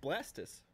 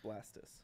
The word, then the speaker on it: Blastoise: Well, you know, because it's like, it's pronounced Blastus, right? Why the hell would it be pronounced Blastus? Blast. Tortoise. And then tortoise, right? You don't say tortoise. It's tortoise. So it's gotta be Blastus.